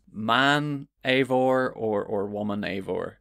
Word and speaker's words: Eivor: Is it Eivor or Ivor? Eivor, which is disappointing to me because I wanted to be able to call the male version Guyvor if it was pronounced Ivor, but it's pronounced Eivor.